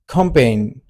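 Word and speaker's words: campaign: ठीक है अच्छा फोर्थ नंबर पर है हमारे पास कैंपेन कैंपेन कैंपेन में हमारे पास टोटल दो सिलेबल है कैम कैम एन ठीक है और इसमें जो सेकंड सिलेबल है ये आपका क्या है स्ट्रेस है ठीक है फिफ्थ नंबर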